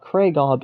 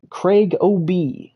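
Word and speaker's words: CraigOB: It is not Kragob, it is Craig OB, compared to Obi-Wan Kenobi, for example. So Craig OB.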